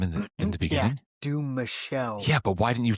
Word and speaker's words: Dumouchelle: Yo, did I mispronounce his name in the beginning? Dumouchelle.